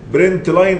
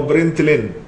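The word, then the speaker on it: println: دوت برينت ال ان ال ان دي اختصار لاين فهي بننطقها نقول برينت لاين او برنت لين فخلينا نروح عند النيت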